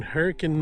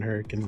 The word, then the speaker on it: Hurricane: We are in Hurricane Mesa, and that's the right pronunciation, Hurricane Mesa. They do not pronounce it hurricane, it's hurricane. So we have come out